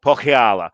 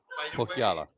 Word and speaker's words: Pohjala: So you're gonna have to pronounce this for me again. Pohjala. Pohjala. So this is Pohjala, yeah.